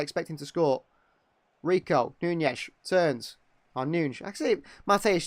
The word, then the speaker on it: Nunes: Rico, Nunes, turns. Oh, Nunes. Actually, Mateusz Nunes, I'd say. Commentators sometimes say Nunes. I'd say Nunes because the Portuguese like to just not pronounce the end of their names.